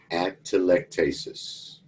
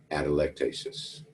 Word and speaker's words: atelectasis: then the term that term is pronounce atelectasis you say it fast atelectasis atelectasis it means collapse long